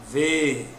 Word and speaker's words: veem: Então você tem veem, vou separar, ó, veem. Quem é a sílaba tônica? O primeiro.